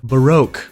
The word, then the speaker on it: Baroque: it has a lot of that Renaissance and Baroque. Is that how you say it? Baroque? Barack Obama. Baroque.